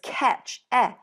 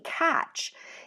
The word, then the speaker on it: catch: one for me, because when I say catch, I say it like this, catch, with an S sound, but it's actually catch, even though I don't really say it like that.